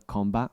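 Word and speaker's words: གོམས་པ: So here it says Komba, 这里讲到了 komba， and it's pronounced Komba.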